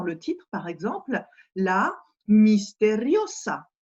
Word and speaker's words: misteriosa: titre, par exemple, la misteriosa. Les deux S ici se prononcent bien S, alors qu'en français, le S entre deux voyelles va se prononcer Z.